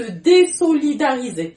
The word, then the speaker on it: désolidariser: Le verbe, c'est se désolidariser. Il y a un S entre deux voyelles, mais on le prononce en tant que ce.